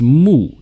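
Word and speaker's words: 木: so the left part of the character is pronounced mu and it is the tree radical or wood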